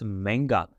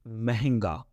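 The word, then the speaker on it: ਮਹਿੰਗਾ: Probably you heard it a little bit differently, like mehenga, all right? If you see it written, it's going to be like mehenga, all right? But we don't pronounce that way while we are talking. We just say manga, all right? Mehenga and manga, all right? So there are two pronunciations.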